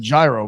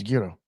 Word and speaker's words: gyro: So I was saying gyro my whole life when it's gyro.